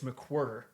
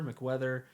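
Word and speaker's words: McWherter: I say it like mick and a quarter.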